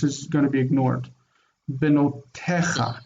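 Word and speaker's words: בנותיך: So the yod isn't really used for pronunciation. This is going to be ignored. Benotecha, not te. It's not there's no yod pronounced. It's benotecha.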